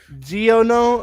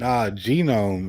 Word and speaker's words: genome: that's our genome yeah gonome I think you pronounced it wrong n genome is g e o no it's g e n o m e genome jome gam that's crazy bro that's